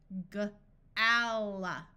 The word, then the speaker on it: gala: Most of the time, when a word ends in the letter A, it schwas. A schwa is a muffled sound that sounds like a short U at the end of a word. So in all of these words, rather than having a clear ah sound, it's going to sound more like Gala, gala, comma, ninja, panda, ultra, magma, tundra.